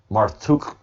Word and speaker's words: Marduk: form of his name the name marduk pronounced marthuk the entomology marthuk is